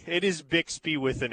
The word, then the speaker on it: Bixby: A listener in Texas asked, "Isn't it Bixby with an X or is there another town named BSBY?" No, it is Bixby. It is Bixby with an S.